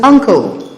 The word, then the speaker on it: ankle: So the N before it is pronounced as a velar nasal.